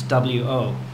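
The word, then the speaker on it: 我: me in Chinese is well in pinion it's wo okay and we pronounce it w okay W so w is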